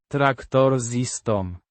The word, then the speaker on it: Traktorzystą: Pronounced, Traktor-zis-tom. with stress on the second syllable.